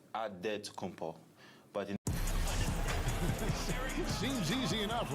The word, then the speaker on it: Antetokounmpo: In the real way, you gotta say it with a D, so it's Antetokounmpo.